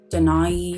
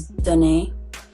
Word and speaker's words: Danae: like, I don't know, some people pronounce it like Denai, or I don't know. There's like so many different names that people have called me, like that isn't like the correct pronunciation of my name. So how you say my name is Danae. It's Danae.